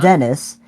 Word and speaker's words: Denise: Well, it's Denise with a T, but it's pronounced Yeah. Dennis.